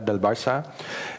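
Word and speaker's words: Barça: wrote my book about barca in Spanish it's Bara it appeared just a few months before Chums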